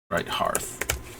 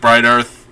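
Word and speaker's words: Brighthearth: copying activated abilities yes right Hearth yep yeah sometimes I pronounce it bright Earth because I keep forgetting there's the other H there uh but yeah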